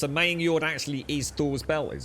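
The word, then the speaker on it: Megingjörð: Oh, so you don't pronounce the G. It's a Maying Yord.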